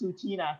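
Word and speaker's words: Tsuut'ina: you is it to sutina right it's retina you know yes right so did you hear that so it's sutina so the ts is kind of silent or the t is silent okay yes anyway so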